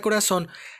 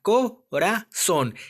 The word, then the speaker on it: corazón: En la palabra corazón, vamos a dividir la palabra corazón. ¿En dónde lleva el acento? Ya lo sabemos, en la O.